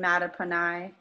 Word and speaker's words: Mattaponi: golf a novel the art of waiting and mata punai queen stories i had to look up how to pronounce that word i did it right right